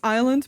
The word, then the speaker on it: island: the decided that the S isn't pronounced in Ireland is it it it